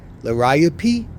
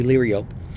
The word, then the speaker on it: Liriope: I'm going to try to say it right now. Lariapi, because I always say Liriope. Lariapi, I think that's the correct name.